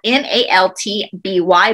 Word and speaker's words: Maltby: is in the malt maltspeak cemetery i hope i'm saying that right in washington state this is spelled m-a-l-t-b-y maltby cemetery now this cemetery